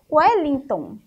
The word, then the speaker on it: Wellington: Nós temos Wellington. Então, o E tem o som de U.